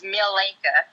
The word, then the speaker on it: Mileka: Well, let me tell you how to pronounce my name right then, because it's not Malika. It's Mileka.